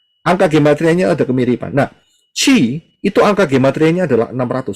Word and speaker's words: Chi: Tulisannya CH pembacaannya, tapi nulisnya adalah X seperti ini, bacanya Chi.